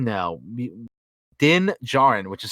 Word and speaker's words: Djarin: Din Djarin, which is spelled D-I-N, Din. And then Djarin, D-J-A-R-I-N. So the D is silent in the last name.